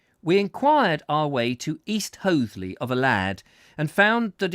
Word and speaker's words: East Hoathley: we should have imagined owing to the curious local pronunciation of the names of places east oatley he repeated in reply to our